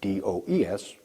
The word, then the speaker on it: does: is an irregular verb S form is does do es pronounced does alright so we use